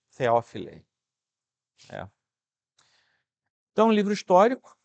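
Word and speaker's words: Θεόφιλε: Na verdade, esse T aí a gente pronuncia igual o TH do inglês, Theophile.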